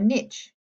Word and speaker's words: niche: Each living thing had a niche, can rhyme with hitch or leash, a specific role within the environment.